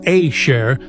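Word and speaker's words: אשר: Aya asherya. The word asher pronounced ashare means who, which or that.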